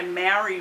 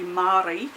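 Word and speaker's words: Māori: i've now discovered that australians say maori wrong because it's not how you say it's supposed to be maori and we say maori because we make everything ah it's like everything yep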